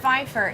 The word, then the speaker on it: Pfeiffer: So some people call him Pfeiffer, some people call him Pfeiffer. It's Pfeiffer. If you are in the agricultural industry at all, know anything about goats or cattle, No, I you don't. know that it's pronounced Pfeiffer.